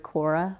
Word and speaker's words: Quora: Yes, yeah, yes, Quora, yeah. yes. Am I pronouncing it yeah, right? no, Okay. you're right. I was just seeing the C or the K on there, but yes, right, Quora, right.